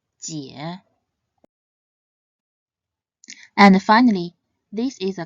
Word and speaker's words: jiě: It should be read in the third tone, jie, jie.